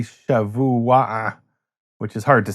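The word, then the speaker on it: שבוע: So, shavu-a is the way we pronounce it in Modern Hebrew, but it's really shevu-a-a, which is hard to say even for most people today.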